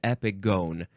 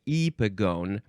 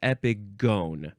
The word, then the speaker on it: epigone: It is epigone. It's not epigone. I got confused by something. So yes, it's just epigone, but it is gone because it's a long O.